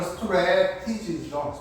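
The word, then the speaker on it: strategy: 자ent리 우연히 그다음 remarkable 하게 되면 놀라운 그다음에 C하게 되면 범죄 pr션 하게 되면 예방 strat지 이거 발음은 스트레티지죠.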